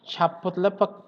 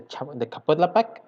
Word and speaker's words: Chapultepec: Okay, about the Chapultepec Park, Mexico City in Mexico.